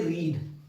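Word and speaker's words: read: I have रीड का spelling same होता है पर इसका उच्चारण अलग होता है। इसको हम लोग रेड बोलते हैं। इसका उच्चारण हम लोग करते है रेड। वी थ्री में इसको हम लोग रेड उच्चारण करते हैं।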